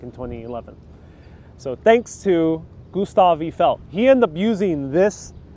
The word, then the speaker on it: Gustave Eiffel: Pardon my French. Gustave Eiffel, I'm pronouncing it in English.